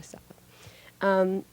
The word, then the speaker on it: Salva: the story of Salva and, how do you pronounce that, Joe? Salva? Is it Salva? Yes. Yes, okay, Salva.